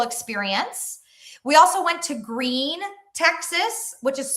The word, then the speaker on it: Gruene: We also went to Gruene, Texas which is spelled g r u e n e.